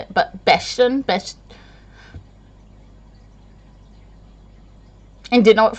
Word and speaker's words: Bastion: But it's pronounced Bastion. Bastion. Not Bastion, which I can't even say it, but Bastion.